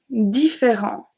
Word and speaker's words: différents: Différent. The T and the S are silent.